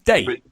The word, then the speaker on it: Dei: Is it Day or Die? It's Day. Yeah, I'm pretty sure it's Day.